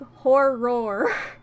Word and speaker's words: horror: There's a second syllable there. It's important cuz if I don't intentionally say like horror, you know, sometimes you just like to watch a horror movie.